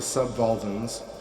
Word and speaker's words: subvolvan: the one of the subvolvans and the other of the prevolvans. This is spelled V-O-L-V-A-N, subvolvan, like Volvo.